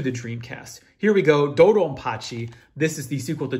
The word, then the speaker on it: DoDonPachi: I think Pachi is also, Hachi is how you say B in Japanese, and then Dodonpachi is just like, it turns into a P for like phonetic reasons or whatever.